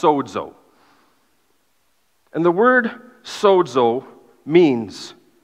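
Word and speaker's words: σῴζω: It's pronounced sozo.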